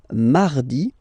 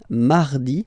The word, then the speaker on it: mardi: Then mardi, mardi. So you can hear that you don't pronounce it that strongly, this R. Huh? Mardi, mardi, okay? You don't need to go too deep like mardi.